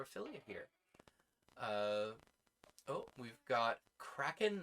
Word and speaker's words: Kraken: Kraken to rhyme with shaken. Oh, it's Kraken then, not release the Kraken.